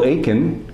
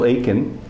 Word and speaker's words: Aitken: 2004 very good to be talking with Bill Aken you don't pronounce the tea in his name Bill Aken who's the author of this wonderful book Shri